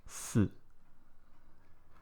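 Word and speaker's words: 四: This is how it looks, and it's pronounced as si.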